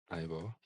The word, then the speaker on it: Ivor: looking at the yeah ior ior pal do pronounced Ivor born 21st July not that you care about